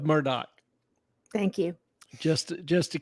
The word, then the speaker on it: Murdaugh: same courtesy well it's definitely not murtal I guarantee you that one murdal all right we'll go with Murdoch thank you just just